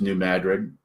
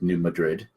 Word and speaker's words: New Madrid: It's pronounced New Madrid here, even though it looks like New Madrid.